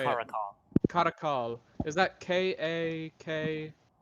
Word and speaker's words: Karakal: pronounced More. So you said that Kakaral, or however you say it, Karakal. Karakal, is that K-A-K? Karakal.